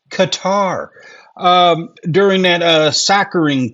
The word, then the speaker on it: Qatar: Uh Qatar, it used to be cutter. Now all of a sudden it's Qatar.